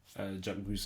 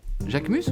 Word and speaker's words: Jacquemus: Ich feiere Jacquemus auch sehr.